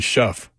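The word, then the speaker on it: Shough: Now, Bud says the Louisville quarterback's last name rhymes with tough. So that would be Shuff.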